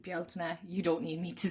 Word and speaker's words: Beltane: I know here in Ireland we pronounce it Beltane.